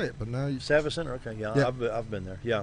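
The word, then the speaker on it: Savvis Center: I didn't know how to say it, but now Savas Center.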